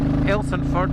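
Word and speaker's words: Athelstaneford: So this is Athelstone Elsonford you'll pronounce it if you're a local.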